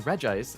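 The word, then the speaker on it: Regice: Again, that's another one where it's like I always pronounce it as reggi ice, but I definitely know people who pronounce it as re ice, but you have Reggie Rock and Reggie Steel. So, to me, this should be Reggie Ice, right?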